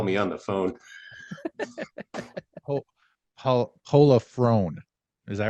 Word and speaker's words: Pollifrone: There's no way I pronounced that right. But we're gonna bring him in. all the way from Florida. How are you doing? I'm good. You were close. It's Pollifrone, but it's pretty close.